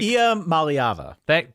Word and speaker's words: Iamaleava: I refuse to pronounce their quarterback's last name until I'm absolutely forced to in this moment. But it's Iamaleava.